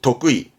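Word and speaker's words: 得意: 그래서 발음이 독의.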